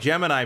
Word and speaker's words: Gemini: It's spelled like Gemini, but it's pronounced Gemini because it's Jiminy Cricket.